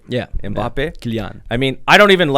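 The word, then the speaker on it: Mbappé: Is that how you pronounce his name? Yeah. Mbappe.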